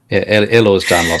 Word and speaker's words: Ehlers-Danlos: Ehlers-Danlos syndrome, EDS, or hEDS. Yeah. I can never say it properly, David. Ehlers-Danlos syndrome.